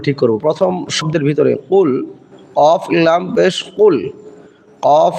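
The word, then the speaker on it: قل: তাহলে এখানে আমাদেরকে বলতে হবে কুল। এই কফের উচ্চারণের স্থানটা হলো জিহ্বার গোড়া থেকে একটু আগে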